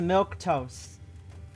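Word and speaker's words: milquetoast: milk toast is that just say milk toast yes it is a milk toast that's how you pronounce that if if you happen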